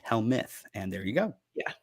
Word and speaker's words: Helmuth: right it's h-e-l-m-u-t-h and it is pronounced hell myth and there you go